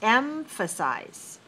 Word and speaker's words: emphasize: go to number seven the word is emphasize emphasize how many syllables three where is the stress one emphasize all right let